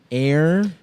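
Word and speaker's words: Eyre: It's tricky, man. One syllable. That's hard. I want to say I like the problem. Here's the thing, man. People used to get it cuz they used to make people read uh Jane Air in school.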